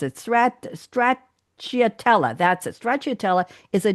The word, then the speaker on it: stracciatella: I don't know how to pronounce it. Stracciatella.